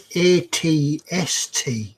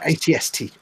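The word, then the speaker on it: AT-ST: So it's ATST, not all-terrain scout, some transport, I think. I thought it was always just pronounced at. No, ATST.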